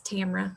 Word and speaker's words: Tamara: are hard to pronounce it's tamara like fragrance with rhymes with camera but it's okay people